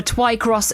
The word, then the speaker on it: Twycross: more just search for TWI cross zoo that is spelled tww y by the way uh